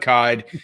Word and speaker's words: Kyed: Oh, well, I should say his name is Doug Kyed. You can find him on Twitter at Doug Kyed. That's spelled like, what's it spelled like? It's spelled like died. Yeah. Dyed. Kyed.